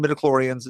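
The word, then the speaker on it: midi-chlorians: Because we're not mentioning midichlorians. Am I pronouncing that correctly?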